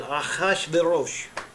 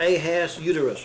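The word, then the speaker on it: אחשורוש: and that name there, if you really pronounce it correctly in the Hebrew, it is Achashverosh. Okay? Not Ahaz uterus, or whatever that looks like it says. Ahaz uterus, uterus.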